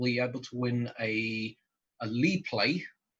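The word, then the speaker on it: LiPlay: So you'll be able to win a Lee play. I'm going to make sure I say it correctly, otherwise, because I keep saying live play for some weird reason.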